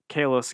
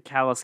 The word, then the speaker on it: Kellas: Again, it's the callous cat. It's spelled K-E-L-L-A-S if you want to look into it.